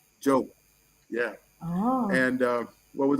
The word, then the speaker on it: Diop: Diop, not Diop. Oh. That's not his name. D-I is pronounced like a J. Diop.